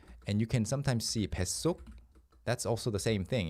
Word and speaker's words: 뱃속: But if you want to say inside your stomach is comfortable, uncomfortable, it's 뱃속. Because that's how people, pronunciation is the first, how people pronounce it. So you mark the fact that people have to pronounce it like 속 with the 시옷.